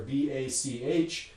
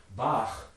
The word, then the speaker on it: Bach: that in english well in german it's going to be something like bach where that final sound is a velar fricative in german obviously not possible in english what do you do with this well interestingly there's a couple different solutions here the most common one for sort of normal non-musician people i think is to map this to a velar stop and pronounce this bach so again we're imposing